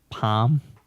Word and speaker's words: palm: I guess he doesn't pronounce the L. It's just palm, like a palm tree.